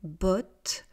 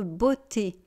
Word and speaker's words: botte: et euh vous voyez, il y a un e, il n'y a pas d'accent. Donc je ne veux pas entendre beauté.